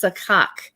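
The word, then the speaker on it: סכך: And how you pronounce that, of course, in English, it might sound like a bird, caw, but that's not the way you say it in Hebrew. It's number 5226, and it's sakak.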